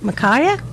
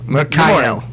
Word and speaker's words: Mikhail: Is it? How do you say this? Micaiah? Mikhail. Mikhail. Okay.